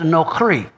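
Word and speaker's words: נכרי: Well, the word foreign here is the word strange, and it's Strong's number 5237, pronounced nokri.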